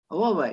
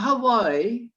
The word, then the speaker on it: Huawei: Huawei, not Hawaii.